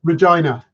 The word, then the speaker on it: Regina: It's Regina.